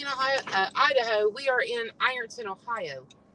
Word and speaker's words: Ironton: We are in Ironton, Ohio. And if you're from here, it'd be pronounced Arton.